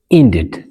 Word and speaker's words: ended: እዚ ዘያማልኦ ማለት እዩ we pronounce the e if the verb ends in d or t bd ወይ ድማ t ዝውድኡ ቃላት ንኾኖም ግን e ትድመጽ እያ ኢለና ዘሎ example ended ended ended ኢለና ንቦለና